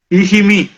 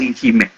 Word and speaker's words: Ikhivbi: Ezechima was a name that was corrupted from Ikhivbi. Ikhivbi was mispronounced by the Seluku people as Ikhime. Ikhime over the years was igbolized to Chime, then later Chima.